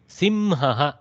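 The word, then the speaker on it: सिंहः: नकुलः mongoose शृगालः jackal सिंह lion Simhah Simha lion. This is a tough one. I will make you pronounce it for practice. Simhah. Simha. Simhah. Simhah. Double hakara has to come almost.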